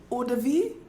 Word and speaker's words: eau de vie: But something here I read say is a blend of, how you pronounce this word, Michelle? Eau de vie?